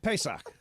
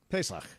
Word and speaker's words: Pesach: Very Pesach-y. Yeah. What? That is how you say Passover in Pesach. Hebrew. Pesach.